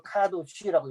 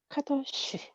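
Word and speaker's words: קדוש: 카도시. 카자는 세게 안 하셔도 돼요. 그냥 카도쉬.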